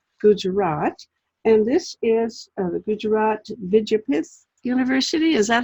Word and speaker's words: Gujarat Vidyapith: And this is the Gujarat Vidyapith University.